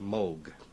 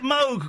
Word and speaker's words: Moog: and there it's pronounced Moog in Great Britain English-speaking countries uh people see the double O and they say mo how do you pronounce